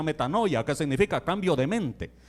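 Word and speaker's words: μετάνοια: hermano arrepentimiento viene de una palabra griega que se pronuncia metanoia que significa cambio de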